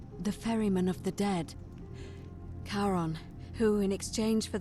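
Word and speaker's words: Charon: is a little off the name you heard wasn't Karen it was c h a r o n as in karon the Fairman of the Dead karon who in ex change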